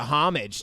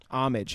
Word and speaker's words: homage: Like, such a homage to Die Hard. Not really. But. You don't pronounce the H. Homage. Homage.